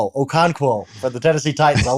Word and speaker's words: Okonkwo: Am I ever going to pronounce it? Let's just go Chig. It's Okonkwo for the Tennessee Titans.